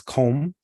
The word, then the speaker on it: comb: You know, you don't you don't even necessarily pronounce the B.